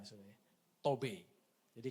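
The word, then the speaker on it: טוב: ini dari kata Ibrani tobe tobe jadi urutan yang keempat itu cara membacanya gu ya tobe jadi kata ibraninya itu t o WB itu tob gitu ya tapi dibacanya tobe ya itu cantik tadi ya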